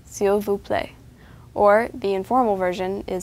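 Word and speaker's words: s'il vous plaît: you say please Sil again that's seal play or the informal version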